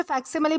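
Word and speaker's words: facsimile: दोस्तों इसे फैक्सिममली प्रोनाउंस किया जाता है जिसका मतलब होता है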